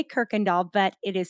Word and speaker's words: Kuykendall: that is spelled yes it is dutch in origin and apparently you y